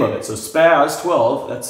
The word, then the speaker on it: SPAS: of this and the name of it so spazz 12 that's spelled with an s-s-p-a-s initially stood for special